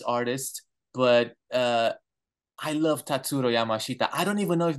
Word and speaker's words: Tatsuro Yamashita: fans of this artist but uh I love tatsuro Yamashita I don't even know if that's the way you pronounce it how do you say that that's